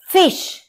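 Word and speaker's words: Fisch: हल्का सा अंतर है क्योंकि जर्मन में आई को ई बोलते हैं हम आई नहीं बोलते तो फीश और फिश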